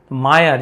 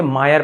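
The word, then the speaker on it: mire: रहे, बर्थ, वैसे से मायर पढ़ रहे हैं, अ उच्चारण हो रहा है, मायर बर्थ, तो वहां पे आई आर हो तो अ उच्चारण किया जाता है, ये रूल है।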